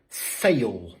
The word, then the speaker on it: sale: Et on applique la même règle de prononciation pour les mots en ALE. C'est-à-dire que même s'ils s'écrivent différemment, la prononciation est la même. Comme avec ce mot-ci qui signifie une vente. Sale, ou ce mot-ci qui signifie pâle, pale.